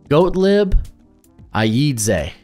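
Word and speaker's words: Gottlieb Ayedze: guy uh here let me pull up the pronunciation or it's just a fun name goat lib Aid goat lib Aid that is just a hell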